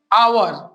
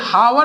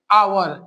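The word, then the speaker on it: hour: उच्चारण को पढ़ते हैं आवर क्या पढ़ते हैं आ अब देखो यह हावर नहीं पढ़ा जाता इसका उच्चारण क्या है आवर पहला अक्षर क्या आया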